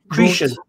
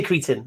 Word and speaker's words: Cretan: Cretian. Cretian. Is that how you say it? No, it's not. You don't say Cretan. No one says Cretan. Cretian.